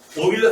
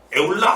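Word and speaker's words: Euler: 자, 써있으면 에올라라고 읽지 마요. 오일러예요.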